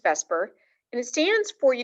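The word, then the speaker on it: VSEPR: scientists call vesper theory bsepr and um it's pronounced vesper and it stands for you don't need to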